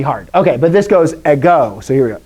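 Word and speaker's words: ἐγώ: okay but this goes a go so here we go i go not eggo that's a waffle a go is i in greek all right and then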